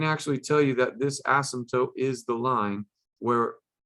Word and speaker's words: asymptote: watch your mouth okay it is not an ass symptom it's spilled kind of weird just like our crazy english language right it's got this weird silent p in there okay it's an asymptote and that asymptote is